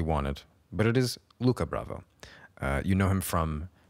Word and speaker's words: Lucas Bravo: exctly we have today Luca Bravo who you might think is named Lucas Bravo but he's French so the S is silent and he was very